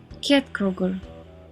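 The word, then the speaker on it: Ketkrókur: Kjett Kroger.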